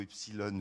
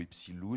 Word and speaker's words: Epsiloon: La deuxième conviction qui a donné naissance à ce magazine Epsilon, on le prononce plutôt Epsilon ou Epsiloon, mais on était content